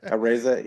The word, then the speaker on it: Araiza: Araiza, is that how you say it? Areza, yeah, like Yeah.